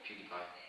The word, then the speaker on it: PewDiePie: So the example that you sent me as part of kind of the interview preparation, how do you pronounce his name? PewDiePie.